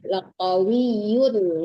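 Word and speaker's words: لقوي: Ya, laqawiyun ya harus jelas tanwinnya, jangan nggak ada samaran, tidak dengung di situ ya. alaihi laqawiyyun amin. Jangan tertahan, tidak ada samaran, benar-benar yun membacanya, tanwinnya harus jelas.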